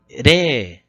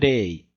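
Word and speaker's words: れい: O nosso primeiro número vai ser o número 0, que se pronuncia re. Então, a gente vai prolongar o som do e. Em alguns lugares, vocês podem encontrar japonês falando rei, rei, mas é mais comum você encontrar eles falando re, porque a gente prolonga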